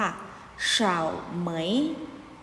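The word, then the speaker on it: 草莓: เบอร์ รี่ ออก เสียง ตาม เหล่า ซื้อ ค่ะ ชาว เหมย และ ชาว เหมย อีก ต่อ ไป ค่ะ คำ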